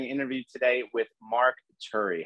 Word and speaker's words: Turi: channel i'm doing an interview today with mark turi how are you mark i'm good aaron how are you good am i pronouncing your last name correctly yeah turi turi's fine either or curious so that's a